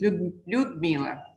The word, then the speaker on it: Ludmila: So that is Ludmila. It's correct. Okay, no that's problem. wonderful. Welcome to the panel. Thank you so Dr. much. Ludmila is the founder of Holistic Healing Medical Center.